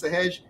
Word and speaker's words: Sahaj: Only I get to call him Sahaj. You all call him Sahaj. His name is Sahaj.